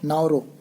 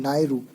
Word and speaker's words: Nauru: World bank का जो latest member है वो 189th मेंबर है और वो है नाउरो। हालांकि प्रोनाउंसिएशन मेरा गलत हो रहा होगा, NAURU, नायरू, जो जुलाई 16 में वर्ल्ड बैंक का हिस्सा बना है।